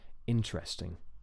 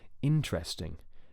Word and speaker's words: interesting: to notice is that the E I've crossed out is not pronounced so you don't say interesting interesting it's just three syllables interesting one two three also